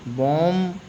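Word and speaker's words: bomb: बॉम्ब बॉम्ब नहीं पढ़ेंगे।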